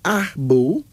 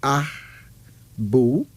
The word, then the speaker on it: Abu: Here's another male name, Ahbu. Now, Ahbu is spelled Abu, pronounced Ahbu.